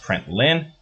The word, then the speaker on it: println: It is pronounced println and sometimes called a println statement. Okay, lin in this case is print line.